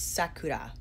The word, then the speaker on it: Sakura: on Google to find how you pronounce Sakura is Sakura Sakura here is the